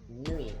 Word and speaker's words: nuit: Nuit, like N-W-E-E. N-W-E-E, that's how it's pronounced.